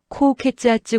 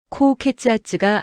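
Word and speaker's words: 高血圧: 토우 코우케츠아츠 고혈압 함께 말하면 더 정확. 44 고혈압이 있어요. 코우케츠 아즈가 아리마스 코우케츠 아즈는 고혈압. 한국어 고혈압이랑 발음 거의 동일.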